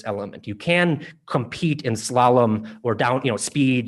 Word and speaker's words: slalom: its pronunciation call it slalom with the accent on the first syllable and you will be right slayum is also an